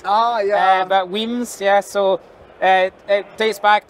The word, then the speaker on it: Wemyss: But Wemyss Malts and Kingsbarns, we got a really, really great selection of whiskies. To round this up, or to finish this off, when you first learned of Wemyss, did you know how to pronounce it?